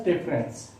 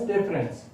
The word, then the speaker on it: deference: D-E-F-E-R-E-N-C-E. It is a noun. In India it is pronounced as difference. In UK it is pronounced as difference.